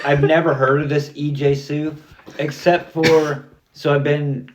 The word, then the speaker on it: EJ Su: Um, say his name again. EJ Su. Okay. So I say EJ Sue. EJ Sue. Hey, that's okay. How else could you pronounce that? Capital E period. Capital J period Sue. S U. Wow. Yeah. Like Fu.